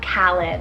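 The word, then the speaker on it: Kahlan: meaning very rare or one-of-a-kind then we have kalin it's called k-a-h-l-a-n callan i truly love this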